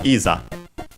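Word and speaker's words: いざ: And then we have the rest of the sentence with starting with isa which is uh an adverb and also an interjection accented on the first uh syllable. Isa uh which means uh now as in come now.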